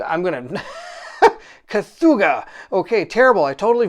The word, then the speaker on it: Cthulhu: A Kachuha? I'm going to... Cthulhu. Okay, terrible. I totally mispronounced it.